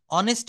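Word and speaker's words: honest: এই যে আওয়ার বললাম, অনেস্ট বললাম, এয়ার বললাম।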